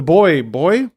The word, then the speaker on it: buoy: used in the past the buoy the boy boy it's the it's the worst word in the English language b-u-o-y yeah that in that